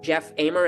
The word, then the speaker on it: Amer: I'm I'm sitting down here with with Jeff amer am I pronouncing your last name right Jeff yes yeah